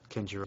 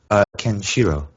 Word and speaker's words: Kenshiro: Kenjiro. Did I say it wrong? Kenshiro.